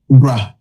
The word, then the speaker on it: bra: Bra.